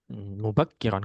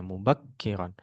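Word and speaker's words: مُبَكِّرًا: Mata tastaidu yaumal tastidu mubakironir mubakiron kafnya tasdid ya mubakiron gitu. Jadi kalau ada huruf bertasydid maka pelafalannya ditekan di huruf tersebut ya. Kalau kaf bertasdid tekan di kafnya mubakkiron.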